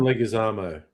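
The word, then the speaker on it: Leguizamo: Um, how do you pronounce his name? John. John Legazamo.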